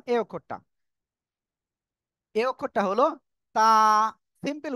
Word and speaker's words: ت: এই অক্ষরটা হলো তা। সিম্পল উচ্চারণ তা। জিপার আগা সামনের উপরে 2 দাঁতের গোড়ার সাথে লাগিয়ে উচ্চারণ হবে তা।